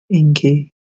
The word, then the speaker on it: Enki: Well, it's spelled Enki. Inky.